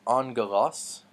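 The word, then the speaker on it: ἄγγελος: OS angle loss and so we remember those two G's making in G those two gama's make an NG sound we mentioned this before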